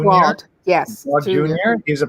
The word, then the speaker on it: Glaude: And the other one is by Eddie, I think it's pronounced Glaude Jr. Glaude, yes.